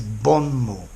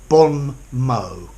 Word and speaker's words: bon mot: say bomb or or bond mo notice mo mo T in French the final consonant is silent so I'd say mo